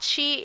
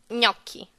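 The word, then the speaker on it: gnocchi: pronounce the word naki so it's not not Qi it's not neo Qi I don't even know how people pronounce that but Italian way the right way to pronounce that thing which kinda is which is making me kind of hungry to be honest is lucky so it's like in yeah sound like the Spanish Enya and then it's like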